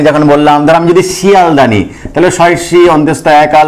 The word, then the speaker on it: শিয়ালদাহ: কিন্তু আর মিলল না, হকারটা কিন্তু আর আমরা উচ্চারণ করলাম না।